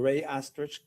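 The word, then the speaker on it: Rey-Osterrieth: There's also a visual spatial ability test and I'm going to have you explain or pronounce that for us. The rey test. Ray the Ray Astrich complex figure test.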